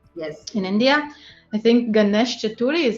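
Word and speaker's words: Ganesh Chaturthi: now in um yes in india i think ganesh chaturi is how do you say it exactly oh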